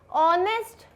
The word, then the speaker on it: honest: ऑनेस्ट H silent.